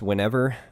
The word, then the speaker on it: WinAVR: Now it's technically pronounced whenever, but I don't think so. I look at it as WinAVR.